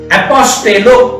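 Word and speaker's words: ἀποστέλλω: लिख लेना, ग्रीक जो भाषा है, इस ग्रीक भाषा में इसको एपोस्टेलो बोला था। एपोस्टेलो, इसका स्पेलिंग मैं बोल रहा हूं, APOSTELLO, एपोस्टेलो ग्रीक में।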